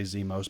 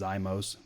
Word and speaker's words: Zimos: A lot of people want to say Zimos, but it is Zimos, something special. Remember the Zima commercials?